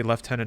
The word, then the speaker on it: Lieutenant: up the atmology of how they're pronouncing Lieutenant yeah I mean I I remember watching milit or military dramas and stuff in the 80s and 90s and people would say left tenant as well and I never I